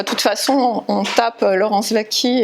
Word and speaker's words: Laurence Waki: Enfin, de toute façon, on tape Laurence Vaquie, et donc W-A-K-I, un W qui se prononce V.